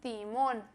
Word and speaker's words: timón: Em espanhol, o timão se diz timón, timón. Esse T é muito mais fácil para o pessoal do norte e nordeste conseguir pronunciar, que eles já falam esse T como tia, e mais o pessoal do sudeste e sul é mais difícil, porque acaba falando como tia.